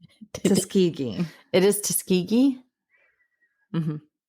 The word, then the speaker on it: Tuskegee: Did you find out how it's actually pronounced? Did you Tuskegee? It is Tuskegee. Mhm. Not Tuskkegee.